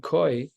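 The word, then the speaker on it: כוי: V'hadetnan koi, we know this animal of a koi or a kvi, different ways to pronounce it.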